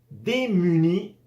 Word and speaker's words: démuni: Démuni, cada vez que veas una E con tilde, siempre de esa manera agudo, como en español, siempre se va a pronunciar E cerrado. Y cuando el tilde está al revés, va a sonar E abierto.